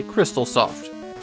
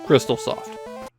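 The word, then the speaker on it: Xtalsoft: Kindosi was developed by Crystaloft. Yeah, they spell their name with an X and they pronounce that cross, but it's Crystaloft.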